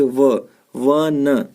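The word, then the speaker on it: one: ठीक है, जैसे यहाँ देखिए वन, वन, इसको वन पढ़ते हैं, ओन तो पढ़ते नहीं है।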